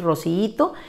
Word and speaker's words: rociíto: resuelve de otra manera cuatro sílabas su pronunciación natural por ser grupo del siete nos dice que es rociíto y esa es su escritura correcta sin tilde en la